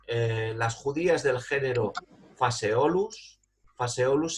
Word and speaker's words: Phaseolus: Phaseolus se escribe con PH, Phaseolus.